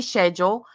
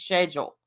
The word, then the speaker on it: schedule: but where she says schedule some people say schedule yes the ones not from America stupid some people do pronounce its schedule those are people usually from the UK calm down calm down